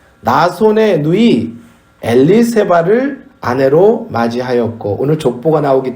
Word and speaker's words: 엘리세바: 이 아론의 아내 엘리세바와 세례 요한의 어머니 엘리사벳이 같은 이름입니다. 그러니까 엘리세바는 히브리식, 구약식 이름이고 그 발음이 신약으로 오면 헬라식, 히랍식 발음이 엘리사벳이 되는 거예요.